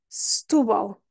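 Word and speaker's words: Setúbal: um assento stubal stubal O primeiro é lá está não é pronunciado porque temos o assento e a rainha é que é que interessa então stubal e este L final é considerado o Dark l em inglês que é um L que a língua vai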